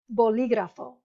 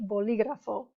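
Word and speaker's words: bolígrafo: mark okay for example boligrafo so see the emphasis is on the third to last syllable one two three boligrafo simpatico one two three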